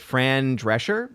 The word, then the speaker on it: Fran Drescher: I didn't know this but apparently was it Fran Drescher is that how you say her name yeah